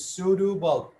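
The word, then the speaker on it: pseudobulb: sudo bulbs sudu bulp the p is silent this is sudu bulb bulp like the electric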